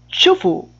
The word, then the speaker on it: Shufu: Shufu. O sea, yo iba a pronunciar Sufur, pero bueno, es Shufu, Shufu.